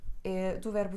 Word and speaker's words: é: a diferença entre as telas E então a pronúncia diferente e a conjunção Estudo português e inglês e é do verbo ser 3ª pessoa singular ele é inteligente e